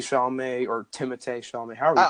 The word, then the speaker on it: Timothée: Yeah, and same thing with some other actors that are also in Best Picture nominees, like Timothée Chalamet or Timothée Chalamet. However you pronounce it.